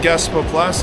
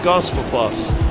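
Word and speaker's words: Gaasperplas: way is the Metro I wasn't far off your pronunciation anyway I was saying Gasper plus and he was saying gosper Plus here we are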